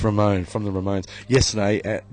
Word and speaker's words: Ramon: your own phone pronounce Ramone from The Ramones yesterday at during the game or mon or Saturday every was calling him Raymond so it is Ramon I I like Ramon better